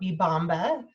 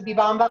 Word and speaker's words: Bibamba: And our business name, we're called Bibamba, is how you pronounce it. So I know Good that's to a little know. tricky. Not everyone knows because this is how it's spelled, but we say Bibamba.